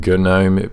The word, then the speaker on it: GNOME: way you pronounce it the reason that I pronounce it Janome with the gut at the front is because it's it's